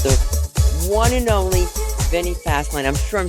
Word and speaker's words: Fasline: I'm your host, and I'm here with the one and only Vinny Fasline. I'm sure I'm saying it incorrectly, but you're going to pronounce it.